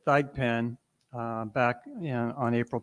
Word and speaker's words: Thigpen: you Mr chairman uh I interviewed Melvin he pronounces it th pen uh back in on